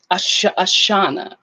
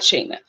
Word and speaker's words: Ashana: So your first pronunciation is not Shane, not Shayna was right. Ashana, not Shayna.